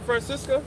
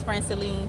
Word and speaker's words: Franceline: so nice to meet you, Francesca. Close enough. Francesca. Close. Just tell me the correct pronunciation. It's Franceline.